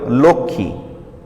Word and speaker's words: লক্ষ্মী: 4 নম্বর নিয়ম, যুক্ত ব্যঞ্জনের সঙ্গে সংযুক্ত মফলার কোনো উচ্চারণ হয় না।